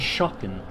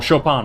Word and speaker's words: Chopin: awarded with spectacular pieces by both Offenbach and Chopin. Or Chopin, rather. Quick, someone get Jackie Stone here to give Blue some pronunciation lessons.